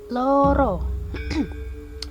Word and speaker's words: loro: Jadi pembacaannya itu loro. Pembacanya itu loro. Pakai vokalnya itu O ya, bukan O. Vokalnya itu O datar ya.